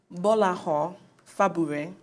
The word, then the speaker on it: Gbolahan Fagbure: in the studio, so I hope I'm not going to mess up your name now. Gbolahan Fagbure. He is the CEO of supermart.ng. I'm going to take his silence for fantastic pronunciation. I couldn't even said it better myself.